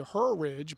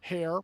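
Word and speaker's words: Herr: ridge, but you know, hair. I I know some people with that last name. That's a Lancaster County name, and some families pronounce it her, and I like Sarah's pronunciation of it, hair.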